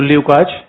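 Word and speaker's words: Lukács: तो ल्यूकाच या लुकास हम इंग्लिश में उसको बोलते हैं, हंगेरियन प्रोनाउंसिएशन का ल्यूकाच ही है।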